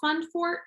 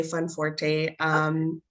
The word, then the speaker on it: Funforte: Because it's called Fundforte, is that correct? Funforte, both are pronounced correctly. Okay. But whenever we're talking about it, I usually say Funforte.